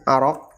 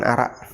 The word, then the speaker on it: arok: Pertama adalah kayu arok. Ya, ini bacanya arok ya, bukan arak.